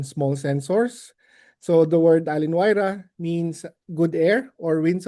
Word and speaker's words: Allin-Wayra: Allin-Wayra. It's a Small Sensors Atmospheric Science webinar series. Allin-Wayra is an IGAC activity focused on small sensors. So the word Allin-Wayra means good air or winds of change in Quechua.